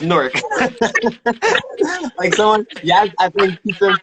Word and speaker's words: Newark: And it is pronounced Newark.